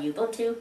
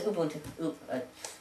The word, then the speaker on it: Ubuntu: a version of Linux is it ubun I thought it was Ubuntu okay bger accent trying to pronounce something that's May Zulu I think yes it's a Zulu word it means something like